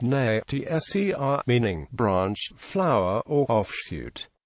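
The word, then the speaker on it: נצר: Netser, pronounced na-tser, meaning branch, flower, or offshoot.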